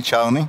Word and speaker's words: Czarny: My name is Czarny. Czarny.